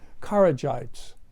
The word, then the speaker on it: Kharijite: In fact, not too long after its inception, in the form of the Kharijites, the Hawarij. You can pronounce that correctly for me.